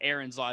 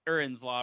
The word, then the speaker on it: Erin's: Or, uh, or I guess I should say I'm saying it Aaron's Law. It's Erins Law, right? If I'm gonna say it right.